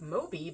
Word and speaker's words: Mobi: And so I came up with Moby, but it's spelled M-O-B-I because M-O-B-I was the file format that the original Kindle books were in.